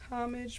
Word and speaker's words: homage: Homage pronunciation.